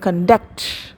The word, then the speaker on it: conduct: one contact second one conduct her conduct is good in that case it is used as the noun the stress is on the first syllable they conducted the program